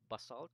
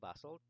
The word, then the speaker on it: basalt: Okay, so these silicate rocks are primarily two kinds: granite or granite, and basalt or basalt. Basalt. I think both four pronunciations are correct.